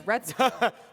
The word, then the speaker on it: Retsuko: A Gretsuko, Okay, and because her name is Retsuko. Nah, right. if I find it, it will actually sound and be spelled like that.